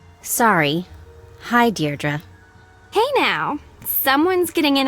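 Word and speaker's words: Deirdre: or something hi de dearra I know it's got that tricky second syllable but I figured it out by age two don't give up you'll get there sorry hi deardra hey now someone's getting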